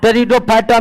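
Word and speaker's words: Pteridophyta: फैटा और तीसरा रिडो टेरिडोफाइटा में पी साइलेंट हो जाता है ठीक है पी क्या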